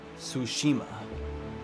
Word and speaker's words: Tsushima: Tsushima. Oh, it's just like sushi.